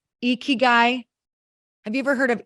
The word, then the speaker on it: ikigai: Have you guys ever heard of, it's pronounced Ikigai?